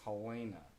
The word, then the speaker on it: Helena: come up to montana don't ever mispronounce helena is helena just a piece of